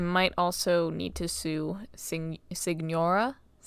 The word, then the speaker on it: Signora: Yeah, his name's Child, and then I might also need to sue Signora. I pronounced it Senora until I realized there was a G in there, and now I don't know what I'm doing.